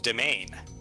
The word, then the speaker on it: demesne: Dem- Also, it's pronounced a domain.